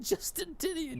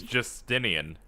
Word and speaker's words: Justinian: basically oh look at Justin tinan here Justin tinian I I think that's how you say his name it's Justinian there's no te there you know back